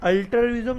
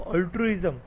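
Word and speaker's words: altruism: ठीक है ना, अल्टरिज्म नहीं बोलेंगे इसको, अल्ट्रुइज्म।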